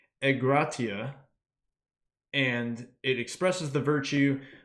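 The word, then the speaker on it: ἐγκράτεια: through in a couple other spots but it's pronounced e gratia and it expresses the virtue of one who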